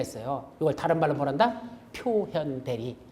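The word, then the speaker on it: 表見代理: 그래서 표견 대리인데, 예, 표견 대리인데 사실은 읽을 때는 뭐란다? 표현 대리 이렇게 읽어요, 이걸. 뭐 일본에서 나온 건가? 하여튼 뭐 해서 우리말로는 견자로 써놓고 읽기는 현자로 쓴다. 원래 현자는 뭐죠? 여기 임금왕자가 들어가야 되는 이게 표현자거든. 근데 이게 없이도 표견대리가 아니라 어떤 학자는 표견대리라고 읽어 지금도. 근데 보통 이걸 표현대리라고 합니다.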